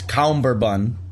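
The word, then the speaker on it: cummerbund: this is getting confusing there's no first be it's like sherbet that's what that's what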